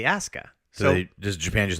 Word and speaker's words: Asuka: It's spelled Asuka, but they say Asuka.